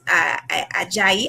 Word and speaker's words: Ajayi: So I will say on the same word as Ajayi. I said that right? Yes, nailed it. Perfect. Thank you, thank you. It's pronounceable in French and Creole, so that was a mistake for me.